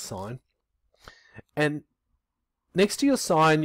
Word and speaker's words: sin: first three letters so we just write sin but it's pronounced sign and next to your